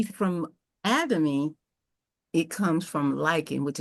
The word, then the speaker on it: Atomy: How do Uh, I pronounce it again? Atomy? Atomy. Atomy.